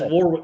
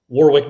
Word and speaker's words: Warrick: It's funny that he says Warwick because that's what my dad used to always call him, Warrick Dunn. Even when he was a Heisman candidate, my dad was still mispronouncing his name, which I had to correct him on.